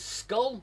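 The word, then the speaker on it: skål: Mikkel says cheers in Danish is skull. It's pronounced Skull.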